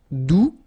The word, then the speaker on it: doux: Doux. You don't pronounce the final X.